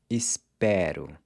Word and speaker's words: espero: So here, the pronunciation of the E changes from closed to open in the I form as well. I hope is eu espero.